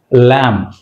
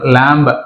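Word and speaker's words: lamb: సో ఇక్కడ ల్యామ్ example, ల్యామ్ ల్యామ్ అంటే be silent, అంతేగాని మనం ల్యాంబ్ అనకూడదు, ల్యాంబ్ అనకూడదు, ల్యామ్ ల్యామ్.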